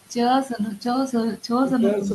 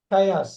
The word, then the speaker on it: chaos: ஏன் சோஸ் வராது, சோஸ் வராது. இந்த தியரி பத்தி எக்ஸ்பிளைன் பண்ணுவார். தசாவதாரம் படம் பார்த்துருந்தாக்கா அது ஹீரோ சொல்லுவார் மல்டிபிள் டைம்ஸ். இது பெரும் குழப்பம், கிரேட் கன்ஃபியூஷன். எழுதிங்க மீனிங் பாருங்க. கயாஸ் பாருங்களேன். Chaos, chaos, chaos, chaos, chaos.